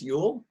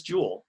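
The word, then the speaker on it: Juul: two different ways so in danish we would say jonas yule and in english we might say jonas jewell and he told me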